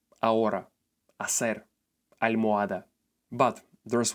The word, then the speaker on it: almohada: This is an easy letter to learn in Spanish because in 99% of cases it doesn't make any sound at all. In this case, it's called silent H. Here are some examples. Hamburguesa, hermano, ahora, hacer, almohada.